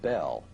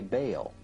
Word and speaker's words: Bel: Bell, spelled B-E-L, is usually pronounced Bell, but both Strong in his Hebrew dictionary and Fariabin in his prefer to say Baal.